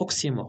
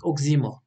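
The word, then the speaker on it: oxymore: اوكي، اوكسيمور، وكتنطق اوكسيمور ماشي اوكزيمور، راه بزاف الناس كينطقوها اوكزيمور. الوغ سي اوكسيمور.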